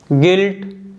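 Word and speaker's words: guilt: है गिटार गाइड गेस्ट गिल्ट leak और टंग तो आप देख सकते हो जो लेटर यू है इन सभी वर्ड्स में साइलेंट है देखिए जो लेटर यू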